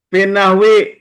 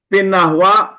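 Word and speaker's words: في النحوِ: Pinahwi, pinahwi, pinahwa, pinahwu dibacanya. Ahwi. Pinahwi, kenapa dibaca pinahwi? Huruf jer. Depannya ada amil.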